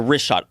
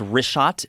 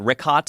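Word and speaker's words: Richat: the photos of these concentric circles yeah the wrist shot r-i-c-h-a-t it's worth mentioning yeah in the first couple uh I just want to say it's wrist shot I used to call it rick hot I was mispronouncing it but let me ask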